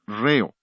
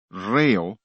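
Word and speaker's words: ῥέω: Es la palabra griega reo, R-H-E-O. La H es el acento en griego, por eso acentuamos la primera sílaba de la palabra ritmo.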